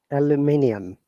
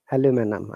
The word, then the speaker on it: aluminium: you stressed the second syllable stress the third syllable aluminium aluminum okay aluminum yeah i would just say aluminum